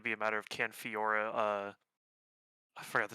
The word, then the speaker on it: Fiora: statue I don't play Fiora but I want that statue yes you just don't pronounce the e that's all repost a no wrong